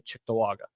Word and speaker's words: Cheektowaga: I say Cheektowaga too. I say cheek too. But there are people who say like Chicktawaga. Chicktawaga. Yeah, there's definitely people who say it like that.